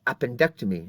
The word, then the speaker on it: appendectomy: I Illustrated earlier and notice the difference in pronunciation on the top word is appendicitis but it's appendectomy so the accent changes slightly between those two different words and so they just